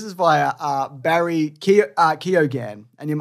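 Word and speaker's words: Keoghan: via uh barry uh keogan and i looked at how to pronounce that and it's keogan yeah sorry he's he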